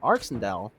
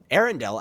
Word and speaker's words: Arendelle: though at the hands of arsendell or arendelle as we are now being told is pronounced thanks echo season 13.